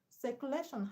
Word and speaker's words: circulation: Circulation has a stress on LA, which is second syllable from the end.